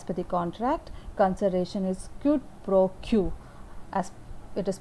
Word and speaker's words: quid pro quo: As per the contract, consideration is quid pro quo, as it is pronounced like QID PRO QUO.